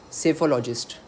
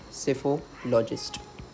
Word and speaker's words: psephologist: Psephologist. P is silent over here. Psephologist.